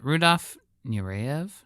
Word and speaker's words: Rudolph Nureyev: Uh Rudolph Nurev, did I say it right that time?